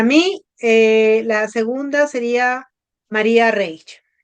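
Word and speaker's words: María Reiche: Para mí eh la segunda sería María Reage o María Reich, no sé. Se pronuncia en alemán. R. Toda la vida crecimos llamándola María Reich, porque yo soy del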